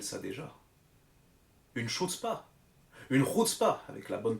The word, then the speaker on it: chutzpah: Une chutzpah, avec la bonne prononciation.